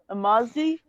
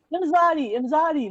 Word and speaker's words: Imzadi: I'm her Mazdi. I can't pronounce it. I'm saying it wrong. Yeah, Imzadi, not Mazda. Saying a name after a car, but what?